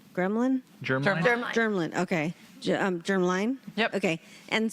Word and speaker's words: germline: I've also learned that it is hereditary, and so it's, how do you say, gremlin? Germline? Germline, okay.